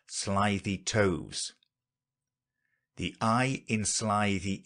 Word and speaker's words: slithy: that has often been asked me how to pronounce slithy toes the eye in slithy is long as